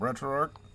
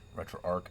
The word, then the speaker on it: RetroArch: We're going to grab Retro Arc. I know everybody's like RetroArchch. Retro Arc. I call it Retro Arc. I don't care how anybody else pronounces it. That's how I pronounce it.